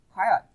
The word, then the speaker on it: quiet: Quiet. Từ này hai vần, nhấn vần 1 này.